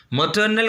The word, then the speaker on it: maternal: आप देखेंगे आर्स क्या साइलेंट है, मटर्नल।